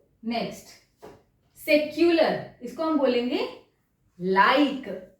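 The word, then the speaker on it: laïque: Perfect, यहां H pronounce नहीं होगा, आईर, आईर। नेक्स्ट, सेक्युलर, इसको हम बोलेंगे लाइक, ला ई क्यू यू ई होता है क, लाइक।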